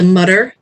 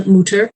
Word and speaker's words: Mütter: out over the you so that is why we are not the Mutter Museum but the moocher Museum I've been told that I do not pronounce that correctly if it were the German word but we do more